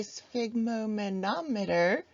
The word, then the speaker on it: sphygmomanometer: We can also measure blood pressure using this amazing device that I always pronounce incorrectly. It is a sphygmomanometer. I usually throw an extra syllable in there.